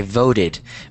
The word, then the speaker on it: voted: V it good okay voted make sure um that you that you emphasize um or you enunciate the Ed because otherwise it's going to sound like vote which is not the past tense so which so it's